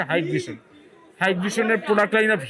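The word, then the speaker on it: Hikvision: Hike ভিশনের হিক ভিশন বললে পরে জরিমানা হয়, সঠিক উচ্চারণ হচ্ছে হাইক ভিশন।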